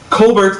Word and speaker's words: Colbert: It's a hard T, Drew. Colbert.